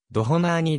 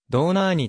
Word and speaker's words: ドホナーニ: であるもっとのハンガリー語での発音はドナー兄だがドイツ語ではどうなぁにとなるクランす本人は